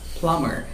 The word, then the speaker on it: plumber: first word okay okay this is actually not plumber it is just plumber just forget about the b and don't pronounce bull just plumber what is